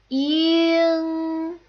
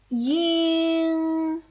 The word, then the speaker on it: ying: The next back nasal final is ying, ying. This is a little bit similar to the way the ing would sound in sing.